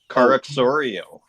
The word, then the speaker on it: Caroxaurio: Caroxoreo. Got it. It's almost like Caro X Oreo.